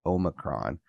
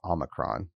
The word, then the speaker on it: Omicron: If you pronounce it the British English, it's Omicron. And in American English, it's Omicron.